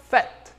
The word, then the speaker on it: fête: E quando utilizamos aqui no contexto de festa, fête, fête, ok?